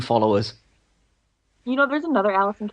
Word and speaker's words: Allysin: It's Allysin. Like sin. Like maiden sin.